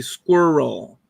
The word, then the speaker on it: squirrel: It's supposed to be squirrel. And that's the thing that trips up most foreigners. Most people that English is a second language, they try to pronounce it as 2 or 3 syllables, and that's what trips them up.